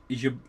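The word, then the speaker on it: Jabłoński: So, in in Polish they have this L in the alphabet that has this thing through it where it's not L anymore. It's like wow. Wow. So, Jablonski, which is what I would pronounce it out, is yabinsky. Yo, yabinsky.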